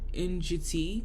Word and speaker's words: Ndjiti: There was a style called Njiti, which is spelled NDJITI, and it means it's basically a white and red geometric design.